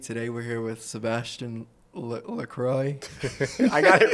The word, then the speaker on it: Lacroix: Today we're here with Sebastien Lacroix. I got it right, though. Yeah, I wanted to butcher it, but I got Lacroix. it right. Lacroix. Yeah. Okay, that's too The French. X is silent.